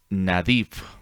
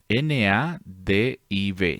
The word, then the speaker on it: Nadiv: Entonces, cuando miramos esta palabra, que en el hebreo se traduce como Nadiv, N-A-D-I-V, Nadiv.